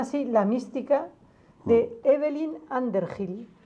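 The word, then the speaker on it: Underhill: la mística de Evelyn anderhill se escribe Evelyn como evelina y ander Hill debajo de una colina en inglés no Under Gil con h es un libro extraordinario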